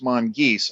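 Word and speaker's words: mongooses: pretty cool and I really liked how he totally mispronounced the mongus uh plural which is of course monges I don't care what Bungie or 343 say that's what the dictionary says because I also had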